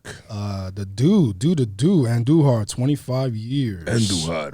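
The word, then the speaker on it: Andújar: Andujar, roll your R's when you say Andujar.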